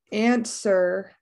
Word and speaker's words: answer: Answer. Also that W is silent.